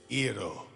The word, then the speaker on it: gyro: Well, how would you pronounce it then? Yiro.